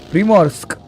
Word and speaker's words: Primorsk: I'm pronouncing it in a really bad way. Primorsk.